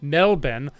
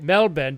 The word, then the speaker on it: Melbourne: was better don't don't pronounce Melbourne the first melben okay Melbourne don't pronounce the first way ever again all right